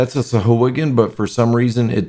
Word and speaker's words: Sahuagin: of them, and like whoever first had them, they were pronounced Sawagans. Sawagans. Yeah, but then Matt Mercer, when he brought them back, he calls them Sahuagin.